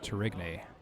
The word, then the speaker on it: Tourigny: I was putting a bit too much of an Italian spin on his last name in a previous broadcast, or just in my head. But I confirm with JJ, it is pronounced Tourigny.